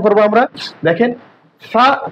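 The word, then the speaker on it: فاء: ফা একটা নরম হরফ, একেবারে শক্ত করা যাবে না, আবার সিনের মতো উচ্চারণ করা যাবে না। আমাদেরকে কি করতে হবে, ফা উচ্চারণের সময় এই যে সামনে যে 2 দাঁত আছে, এই যে এই 2 দাঁতের আগা এবং জিহ্বার আগাটা আমরা নিয়ে নিব, নিয়ে আমরা সুন্দর করে উচ্চারণ করব। দেখেন, নরম করে ফা, ফা, ফা।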